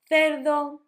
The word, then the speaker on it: cerdo: You can always say as an S, because some countries and some parts of Spain, instead of making the th sound, make an S. So you could say, instead of cerdo, you could say cerdo.